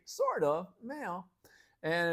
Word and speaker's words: meio: All right, this is mayo. Mayo kind of sounds like mayonnaise. Mayo is an easy term to practice, and wow, native speakers, just remember the pronunciation is like mayo in English.